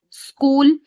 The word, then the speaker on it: school: It is necessary to have the letter 'H' but here 'H' is not saying its sound.